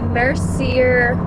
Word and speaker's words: Mercier: to mess it up I think it's Mercier it's it's spelled the same way as like Laura Mercier the makeup brand but anyway it's really